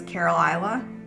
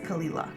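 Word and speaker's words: Caol Ila: they look at it they think it says carola because of how it's spelled but it's pronounced kalila and I know that I know that this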